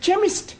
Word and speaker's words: chemist: begins weekend see H that is making it chemist well the CH is pronounced ah now I am understanding see eighties